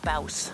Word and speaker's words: Bouse: The town's called let's see, it rhymes with mouse, so Bouse.